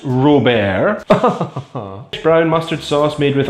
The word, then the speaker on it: Robert: well okay let's investigate sauce Robert pronounced raw bear brown mustard sauce made